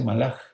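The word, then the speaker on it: מלאך: En hebreo se dice malaj. La K suena como J, aunque se escribe como K.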